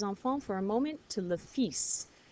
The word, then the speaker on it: le fils: All right, so now we're going to skip over les enfants for a moment to le fils. It looks like Phil's.